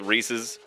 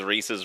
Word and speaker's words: Reese's: They They were like, "Okay, it's Reese's pieces." Cuz Reese's rhymes with pieces. No, it's Reese's Pieces. It's never been Reese's.